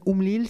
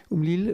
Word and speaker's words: Oumlil: Et je commencerai par donner la parole donc au docteur Amin Oumlil, c'est comme ça qu'on prononce. Oumlil, vous êtes pharmacien hospitalier,